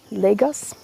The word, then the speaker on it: Lagos: We pronounce it Lagos.